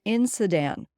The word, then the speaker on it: NSITEN: Robert says the acronym NSITEN is a Mi'kmaq word pronounced NSITEN, which means we want you to understand.